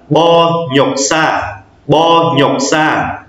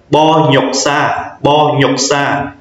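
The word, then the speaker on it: 번역사: mình sẽ đọc là Bo nhọc sa, biên dịch viên. Mình sẽ đọc nối lên là cái chữ N, nó sẽ nối với từ nhọc, mình đọc thành từ nhọc. Bo nhọc sa, biên dịch viên.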